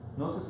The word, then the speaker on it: gnosis: That's why in Greek there's a G, gnosis, and in English there's a K, because we got it from Greek, that we don't pronounce, gno, but it's actually coming from Greek, gno.